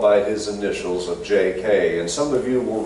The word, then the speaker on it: J.K.: So he had the newspaper publisher actually spell it out, J-A-Y-K-A-Y, to get the point across that he is J.K.